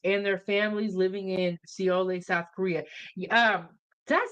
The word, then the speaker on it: Seoul: Emperor said it's pronounced Seoul.